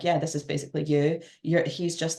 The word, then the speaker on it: EWE: so you would pronounce that you, but Mm-hmm. also it could be like Eve as well.